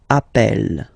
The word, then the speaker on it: appelle: So when you get this e vowel and then you get a double consonant, and well, they are the same, then it does change the pronunciation of e. You tend to pronounce it like really open. That's the reason why you pronounce it appel.